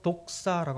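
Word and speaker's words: δόξα: 영광 돌린다는 말은 무슨 뜻인가 하면 헬라로 독사라고 합니다. 독사. 우리가 안 그런 뱀을 이야기하는 것이 아니고 발음이 독사입니다.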